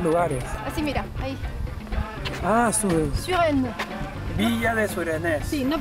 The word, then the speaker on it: Suresnes: Ah, Suresnes. Villa de Suresnes. Sí, no pronuncia, esta se pronuncia U, no U, y esta no se pronuncia. Es como así. Y esta tampoco.